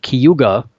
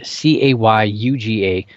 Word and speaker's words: Cayuga: in Indiana but it's it's spelled CA Y UGA you'd think it would be Cayuga but it's taste I